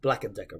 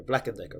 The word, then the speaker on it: Black and Decker: stuff like that but you could say it's four syllables that you can say quite fast Black and Decker Black and Decker Black and Decker Black